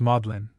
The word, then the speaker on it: Magdalen: the seed of learning Magdalene is pronounced modlin probably in subtle tribute